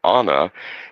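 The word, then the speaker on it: Áine: It's actually Anna. And Anna is the Celtic goddess of love, fertility, and the summer.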